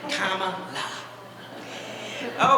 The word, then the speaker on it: Kamala: for attorney general and a lot of people in the state of California had a hard time knowing how to pronounce Kamala so they had the hat made to help people pronounce it right right Comm La okay so what I